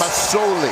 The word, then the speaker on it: Masoli: S, not a Z. And I think as the East Division Player of the Year, most outstanding player, I think he's earned the right to have his name pronounced correctly.